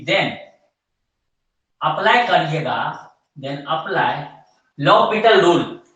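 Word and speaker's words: L'Hôpital: इसको आप अगर बोलचाल के भाषा में बोल दें फ्लो में, तो इसको एल हॉस्पिटल रूल बोल देते थे, एक्चुअली में date is लॉपिटल rule, L silent हो जाता है, ठीक है, यहाँ पे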